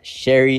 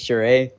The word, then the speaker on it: Sheree: It's not Sherry, it's Sheree.